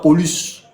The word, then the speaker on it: Paulus: Et petit, là, on prononce ça Paulus.